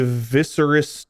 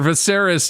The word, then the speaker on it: Viseris: Mark, you could be Viscerous Targerian. Oh my god. Viserious Targaryen. Ver Viseris Targaryen.